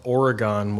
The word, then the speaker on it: Oregon: from a town called Oregon Wisconsin okay unlike the state of Oregon we pronounce it the way it's spelled yeah and and so